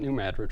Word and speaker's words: New Madrid: New Madrid area and looks like New Madrid but they pronounce it New Madrid for go figure it's